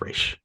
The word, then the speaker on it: Ra's: It's Raish. It's Raish.